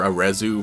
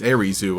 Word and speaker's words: Arezu: I had just always been calling her Arezu for like the past 3 years, and everybody had basically been doing the same. But you know, that pronunciation actually makes sense. Arizu, a lot like Aries.